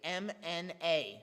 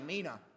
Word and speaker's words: mna: Now the word mina, in the Greek, it's actually M-N-A, so mna, which is really weird to pronounce. We call it a mina.